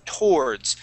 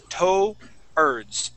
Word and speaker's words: towards: Okay, the word is towards. So instead of pronouncing that W, we would just say towards.